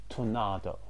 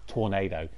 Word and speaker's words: Tornado: I love the black horse, and I love the name Tornado, especially when you pronounce it that Spanish way rather than Tornado. Tornado is a bit weird, but Tornado.